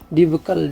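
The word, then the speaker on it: debacle: डीबकल डिबकल। डिबकल का मतलब क्या होता है? डेबकल। डी ई बी ए सी एल इ डेबिकल। प्रोनाउंसिएशन क्या? डेबकल।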